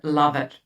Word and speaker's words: Lovitt: So today we talk about narcissistic mothers with Lewitt I said correct do you your surname? Well it's an English name so it's a challenge they they pronounce it love it.